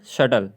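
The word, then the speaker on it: subtle: और सटल डेप्ट doubt शटल डेप्ट doubt शटल डेप्ट doubt शटल इसमें टी से पहले बी है इसलिए बी जो है साइलेंट है आगे चलते हैं ठीक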